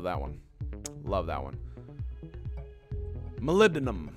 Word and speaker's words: molybdenum: cool so I'm gonna Molly Molly be denim gotta love that one love that one molybdenum I believe is how I believe it's how the British say it molybdenum all right so I